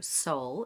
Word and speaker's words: Seoul: So, Seoul is the capital of South Korea. And the pronunciation is the exact same pronunciation as your soul, which is what is